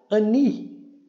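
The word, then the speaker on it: אֲנִי: Ani, ani. Olha só, né? representação Ani. E aqui nós temos e não é contada, então nós temos aqui apenas uma sílaba. O aqui o o alef não é pronunciado, né?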